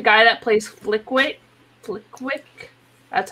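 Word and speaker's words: Flitwick: also like the guy that plays flick wait flick quick that's how you say his name yeah um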